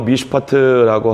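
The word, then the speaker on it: מִשְׁפָּט: 정의는 히브리어로 미슈파트라고 하고 포악은 미슈파흐라고 합니다. 그리고 공의는 체다카라고 하는데 부르짖음은 체아카라고 읽습니다.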